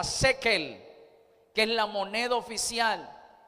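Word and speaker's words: שקל: En hebreo se pronuncia shekel, que es la moneda oficial.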